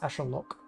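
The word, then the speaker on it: axolotl: word this word uh the way that is easier for me as a uh english speaker is actual look um you can go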